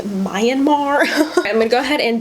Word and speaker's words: Myanmar: was going to say a lot of people say myanmar but it's myanmar that's how you pronounce it if you know